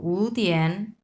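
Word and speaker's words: 五天: সো আমরা উটা তখন আমরা 2 নাম্বার টন উচ্চারণ করব, উ তিয়ান।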